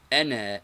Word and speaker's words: أنا: Ana is pronounced ana, not ana.